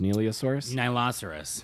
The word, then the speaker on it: Nihiloceros: Nihiloceros. Nihiloceros. It's like nihilism and rhinoceros.